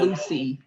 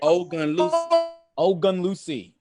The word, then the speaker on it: Ogunlusi: Ogunlusi. Lucy. Yes. Ogunlusi.